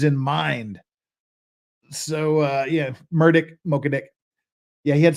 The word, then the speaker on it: Murdaugh: said his name was murdick not murder he doesn't pronounce it even Murdoch he pronounces his own name murdick it's Alex murdick so